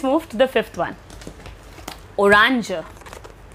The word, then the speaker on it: orange: Orange. The spelling is same, but the pronunciation is a bit different.